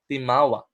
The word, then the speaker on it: Timawa: Now Timawa, pronounced as Timawa, or they are called in English freemen.